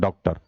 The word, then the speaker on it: डॉक्टर: ये गलत हो जाएगा, ये पूरा औ का उच्चारण नहीं करता है, ये आधा औ का उच्चारण करता है, इसलिए इसको लगाया जाता है उसमें डॉक्टर, है ना।